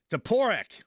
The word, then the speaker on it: Toporek: Toporek. There you go. Well, that's just not the proper way to pronounce that. Toporek. I like Toporek better. I think that sounds more fluid.